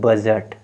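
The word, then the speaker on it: budget: के बाद क्या है जी है तो डी साइलेंट हो जाएगा तो बी यू जी ई टी बजट ये क्या हो जाएगा बजट ये क्या हो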